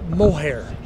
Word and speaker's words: Mohajir: Well, my kids like when they, because my J is silent. A lot of people, the more educated you are, the harder my name is. We just need a good old-fashioned redneck from Arkansas to pronounce my name, and they'll get it right every time. when I lived down in Arkansas. Mohair. They make the J silent.